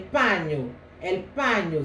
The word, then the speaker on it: paño: C'est ça le paño, el paño, ça s'écrit P-A-N avec un signe comme ça en haut, comme les Espagnols. Là, je ne sais pas le définir parce que c'est l'alphabet espagnol et O. Mais ça se prononce paño, paño.